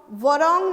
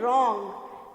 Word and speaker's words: wrong: Okay, now रॉन्ग, रॉन्ग तो हम वरॉन्ग नहीं बोलते हैं, डब्लू नहीं बोलते हैं, ठीक है ना. हम क्या बोलते हैं, रॉन्ग. सो डब्लू is silent.